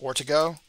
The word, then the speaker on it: Ortego: uh next is keith ortego keith i think his name is technically pronounced ortigo all right i'm gonna